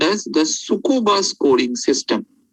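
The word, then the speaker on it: Tsukuba: name called as the sukkova scoring system the t is silent it is called as s u k u b a the sukuba scoring system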